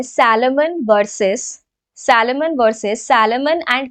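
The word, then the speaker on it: Salomon: सैलेमन versus सैलेमन versus सैलेमन and company limited. सलमान Khan मत लिख देना।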